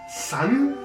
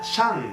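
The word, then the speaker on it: 山: ¿San? ¿En chino le dicen san a las montañas? No, se pronuncia Shan.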